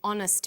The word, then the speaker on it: honest: happy man but an honest man the H is not pronounced so honest sounds like